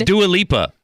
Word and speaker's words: Dua Lipa: And nobody even knew how to pronounce her name. Dua Lipa? Nobody knew how to say it. And I'm like, it's Dua Lipa.